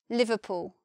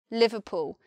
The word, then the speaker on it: Liverpool: But in my Southern English pronunciation, you could even say that this oo vowel is shortened and it sounds more like Liverpool, Liverpool. Same vowel, but not so long sounding.